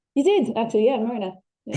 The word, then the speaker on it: Mernagh: You didn't pronounce the G. Yeah, I would avoid the G.